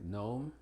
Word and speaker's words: gnome: Y la G generalmente es muda antes de la N o M al principio de palabras como gnarl, gnat, gnostic, gnome. Al final, assign, benign, design, foreign, paradigm.